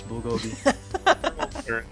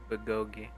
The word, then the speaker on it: bulgogi: You better put all the meth in this bulgogi.